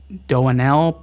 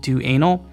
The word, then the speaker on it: Doanel: Like there was a Twitch user that I believe is pronounced Doanel, but it looks like it's saying do anal.